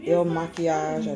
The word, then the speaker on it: Il Makiage: so i did get the ill machias this is how you pronounce it i went ahead and